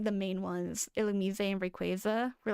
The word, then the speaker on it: Illumise: Illumise and Rayquaza were like the main weird pronunciations. Why is it even called Illumise? Okay, illuminate, so illu. Me. Why is it not illumise?